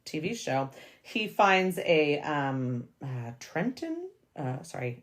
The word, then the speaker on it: Trenton: So in this scene, in chapter 13, not the TV show, he finds a Trenton. Sorry, I think you don't pronounce the T in that.